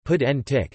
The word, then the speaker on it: Puig Antich: salvador Puig and ik Catalan pronunciation pedantic 1948 to 1974 was